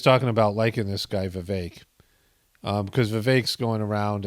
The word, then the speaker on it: Vivek: the other day that it rhymes with cake Vivek and I'm like oh